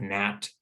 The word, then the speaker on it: gnat: in some words like gnat and gnome the g is completely silent we just pronounce the n sound the same is true